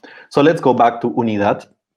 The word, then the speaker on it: unidad: let's go back to unidad it's unit yeah that's correct and in spanish we stress the last syllable here we need that